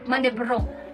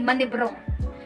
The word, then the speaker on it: manibrong: So A, N, E, B, R, O, N. Manibrong. Okay, manibrong. Manibrong, in Tagalog, magnakaw ng isda sa pasaling sa dagat.